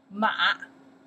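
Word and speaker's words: 马: Chinese you pronounce the ma.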